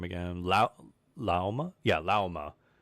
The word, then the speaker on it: Lauma: Yeah, Lauma. Think of the animal name llama, but just call it Lauma. There's a U there.